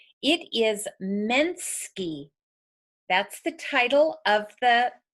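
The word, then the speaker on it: Mnsky: let me get the name correct it is Minsky that's the title of the project it's spelled em en sk y by Maria socha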